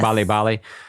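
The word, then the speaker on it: 빨리빨리: you discuss and I don't know how you pronounce this is it babali babali is it oh Bali Bali yes Bali Bali uh hurry which is translated what hurry hurry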